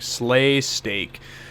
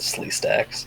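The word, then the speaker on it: Sleestak: He was probably like Slay Steak. No, I pronounced it right. I pronounced it Slee Stacks.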